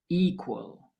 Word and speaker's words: equal: With equal, the stress is on the first syllable, equal.